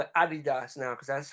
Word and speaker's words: Adidas: ] yeah they definitely help I call it Adidas now because that's how oh yeah that's the right way to pronounce it and that's the